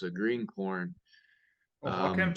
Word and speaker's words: Oaxacan: Oaxacan? Starts with an O, but it's pronounced with the W. What was that? Oaxacan?